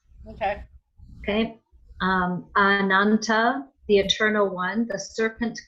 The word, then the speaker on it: Ananta: couch of Lord Vishnu I would not be surprised if it was a long a but I don't know oh no it's not it's a regular as because here it is